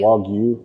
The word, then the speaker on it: Wagyu: Well, I say redneck it up when I say Wagyu. Wagyu. Wagyu would be more correct. Okay. If you Nihongo ga wakarimasu, but most people don't, so it's fine. Wagyu tamales.